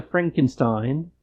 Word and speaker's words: Frankenstein: Victoria Frankenstein. It's pronounced Frankenstein.